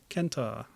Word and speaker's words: Kenta: From the Japanese word kentoros, meaning centaur, which is probably closer to the original Greek, with the hard C. It's like Kerberos for Cerberus. When it gets anglicized, we tend to soften the C.